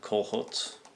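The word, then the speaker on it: Czolgosz: and even the assassin i think you pronounce it uh cohorts as a polish name the assassin even said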